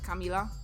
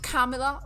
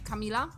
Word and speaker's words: Kamila: Hey, if someone wants to make me angry, there is a way you can say my name in Polish, like Kamila is my name in Polish, like it's pronounced the way I say it, like Kamila, and not Kamila or something, like it's Kamila.